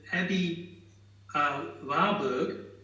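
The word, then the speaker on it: Aby Warburg: But in harmony with all these coincidences, today I read that Abby Warburg, this is German pronunciation, said that a book is a vehicle that can go in any direction, which I thought was great in relation.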